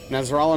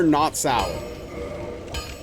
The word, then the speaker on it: Nazarella: Nazarella, not to be confused with Nutella. Correct. or not salad, which for some reason is how the TTS lady pronounces my name.